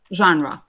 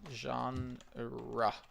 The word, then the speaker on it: genre: Genre. Mhm. It's a strange pronunciation. Genre. Like this, genre.